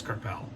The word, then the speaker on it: Crépeau: There was a denial of score opportunity committed by Maxime Crépeau. I can't pronounce it. It's Crépeau.